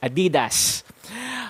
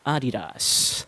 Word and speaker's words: Adidas: to is at as adidas however you will want to elongate the a sound at the beginning a little more and flow through the rest of the word without any stresses at all adidas say that for two